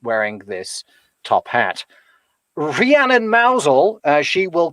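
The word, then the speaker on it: Mousehole: cornwall that is called mousel but it it's spelled slightly differently yeah it's it's it's spelled like mouse hall but of course if you say that the cornish will correct you and they know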